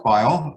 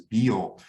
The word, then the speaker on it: Beyl: my name is bile uh bile is a german name and that is the german pronunciation uh that's the way